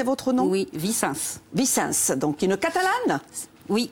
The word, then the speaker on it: Vicens: J'ai bien prononcé votre nom? Oui, Vicens.